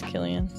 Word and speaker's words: Cillian: It is Killian. Is it Killian? Yeah. I'm sorry, Killian. I just butchered your name.